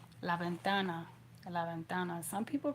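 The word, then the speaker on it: la ventana: Lavventana. And like I said that V kind of sounds like a light B. Laventana.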